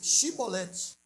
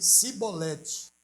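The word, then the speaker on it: Chibolete: E dizendo ele, não, então lhe dizia, dize, pois, Shibolete. Porém, ele dizia, Sibolete, porque não podia pronunciar assim bem.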